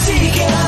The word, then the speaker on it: Tika: It's coffee talk with the Tika. Nothing rhymes with that but chicken tikka.